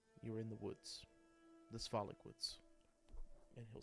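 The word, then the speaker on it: Svalich: Um but from there you're in the woods, the swollic woods. and he'll spell that s v a l i c h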